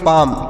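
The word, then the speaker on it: palm: तो इसे क्या पढ़ेंगे पी से प ई से आ की मात्रा और एल यहां पर साइलेंट है ल को नहीं पढ़ेंगे यम से म तोसे पढ़ेंगे पाम पी ए एल एम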